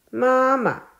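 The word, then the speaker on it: 妈妈: 读作轻音，妈妈。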